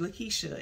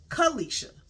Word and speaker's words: Kalisha: I said, my name ain't Lakeisha, it's Kalisha.